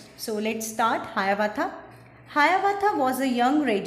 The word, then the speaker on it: Hiawatha: How to pronounce this? Hayavatha, Hayavatha, Hayavatha.